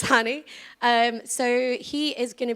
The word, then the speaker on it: Hany: I'm introducing our next speaker, who is Hany, and he wants no bullshit pronunciations of his name. It's Hany.